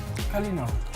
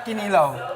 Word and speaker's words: Kalinaw: How do you say peace in Visayan? Kalinaw. A kalinaw. Kalinaw. Not kinilaw. Oh.